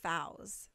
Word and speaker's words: Fawziyya: Fawziyyah. Fowz. Oh my god, I'm so sorry. Fowz. Yeah. Fowz. I got that. You don't actually have to say it. Most I people wanna just say- say. I want to say it right. I try. Everybody says. I know it's your identity. Everybody says Yeah. I But try- just my two close. friends say. Fowz. Yeah.